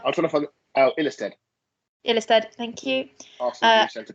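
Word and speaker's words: Ilestedt: Adam, I can't pronounce this one. Amanda. I'm trying to find Ilestead. Ilestead, thank you.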